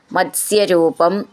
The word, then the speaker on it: മത്സ്യരൂപം: കില മത്സ്യരൂപം, ഇവിടെ അതുപോലെ സ്യ ത് സ്യ മത്സ്യരൂപം അങ്ങനെ നിർത്താം.